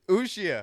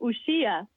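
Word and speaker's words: Uxía: Uxia. I think the accent is on the I, so Uxia.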